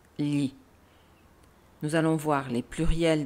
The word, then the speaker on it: gli: Le pluriel de lo est gli, G-L-I, G-L-I, qui se prononce li.